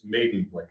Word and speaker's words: Maidenblick: It's Maidenblick is how it's pronounced.